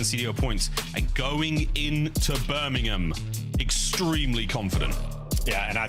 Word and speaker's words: Birmingham: And it is, you say it right, it's Birmingham. Not not Birmingham. Not Birmingham. There's no there's no bo don't no pork involved. It's it's Birmingham Birmingham.